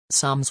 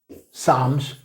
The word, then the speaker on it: Psalms: Psalms 1:3. Psalms 1:3. 시편 1편 3절입니다. PSALMS. 아, 이거 한다네. 쌈이니까 P도 묵음이고 L도 묵음이에요.